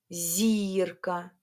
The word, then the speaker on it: зірка: Скажіть три рази собі, і ви одразу почуєте, на який голосний у вас впав наголос. Тут всього дві голосні: і а два голосні звуки і а. Який голосний ми вимовляємо сильніше? Скажемо так. Так. голосний і зірка. А от якщо б я казала з наголосом на а, якщо б мені захотілось голосну а сказати трошки голосніше і зробити наголос на а, тоді б я сказала так: зірка. Але чи є слово зірка? Немає. Є тільки зірка.